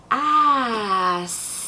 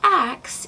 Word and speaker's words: ask: And one of the oldest I first started noticing, ask. Definitely not ax if you mean to ask someone something.